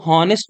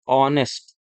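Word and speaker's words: honest: ऑनेस्ट, इसको हॉनेस्ट नहीं पढ़ते हैं, इसको पढ़ा जाता है ऑनेस्ट, ऑनेस्ट।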